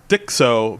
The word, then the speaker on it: Dicso: It's Dicso, but if you look at that, it looks just like disco. He's just changed the C and the S.